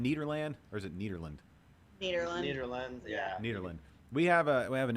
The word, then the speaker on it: Nederland: Nederland, yeah. Nederland. We have an issue with pronunciation on the show, and I want to make sure I always get it right.